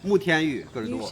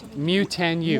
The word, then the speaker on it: Mutianyu: Mutianyu. Mutianyu.